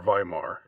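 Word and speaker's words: Weimar: um and the actual Yar days or viar if you want to pronounce it in the Germanic way I'm just going to I'm just going to um pronounce the W part um if you do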